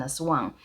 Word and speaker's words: aswang: in the world is an a Swang so that is a creature in the Philippines that can an evil creature that can shape shift a shape shifting evil creatures in Filipino folklore is how you say it and aswangs are particularly